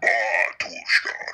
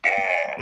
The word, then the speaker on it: Batushka: They're like, actually, it's pronounced Yeah. Batushka, not Batushka. Right. It's Batushka. Right. Like, you gotta pretend to be a sheep when you're saying it.